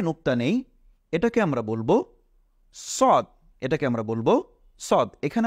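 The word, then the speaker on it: ص: মনে রাখতে হবে যে সিন হলো চিকুন আর সদ হলো মোটা এটাকে বলা হয় সদ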